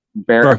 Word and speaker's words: Verhoeven: it'll- Paul Verhoeven. What's how you say his name? Verhoeven.